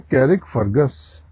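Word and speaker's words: Carrickfergus: लिखते हैं कैरिक फर्गस लेकिन इसमें आर साइलेंट है। तो उच्चारण होगा इसका फर्गस।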